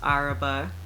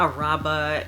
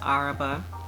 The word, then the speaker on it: Araba: So yeah, my name is pronounced Araba, not Araba and Araba. Like people really be just remixing my name, but it's just Araba.